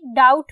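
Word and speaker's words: doubt: होता है ठीक है बी डाउट में साइलेंट होता है और डाउट इडली ठीक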